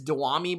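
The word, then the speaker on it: Dyami: I always say his name wrong. I believe it's Dewami Brown.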